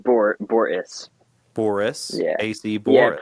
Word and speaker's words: Borress: So the stress is on bore, so it's Borress. Borress. Like Borress.